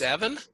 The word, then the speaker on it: Evan: It is Ivan, right? Am I pronouncing it correctly? If not, I'm sorry. YZ. Oh, it's Evan?